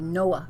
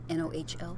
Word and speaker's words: Nohl: Well, I said Noel because I heard you say Noah Rosen. It's Noel, Nohl. Oh, did I say Noel? I heard Noah. No. Noel. No. Noel. Like Oh, Noel, I'm sorry. Noel, but it's spelled Nohl.